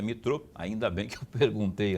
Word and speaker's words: Mitraud: é o Thiago metrô na verdade eu se eu fosse ler conforme escrito aqui conforme escrito ia falar mitralde mas a pronúncia é metrô ainda bem que eu